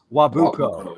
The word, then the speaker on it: Nwabuko: Yeah, the N is silent. Yeah, Nwabuko.